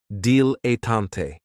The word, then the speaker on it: dilettante: is a dilettante, and this word has 3 syllables, and there's kind of like a stress on that first and last syllable, dilettante.